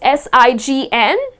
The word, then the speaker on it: sign: the spelling it is s-i-g-n but the letter g is silent and the correct pronunciation of this word is sign you need to sign